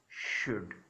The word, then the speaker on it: should: हैं, this is called शुड. फिर नाउ आई am telling you, एल is silent here, कोई इसे शुड नहीं बोलेगा, ए शुड.